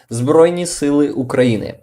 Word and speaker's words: Збройні Сили України: By the way, Richard, there's one, there's how you pronounce Armed Forces of Ukraine in Ukrainian. It is Збройні, which is armed, forces, сили, and Ukraine, України. Збройні Сили України.